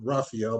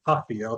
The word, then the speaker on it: Rafael: I don't want to call him Raphael because his name is really Rafael, because I saw them made a big stink about it on James Dennis James' channel. You got to pronounce it with an H.